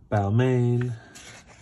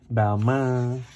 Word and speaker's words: Balmain: Balmain. Or Balmain, depending on how stringent you are with the pronunciation.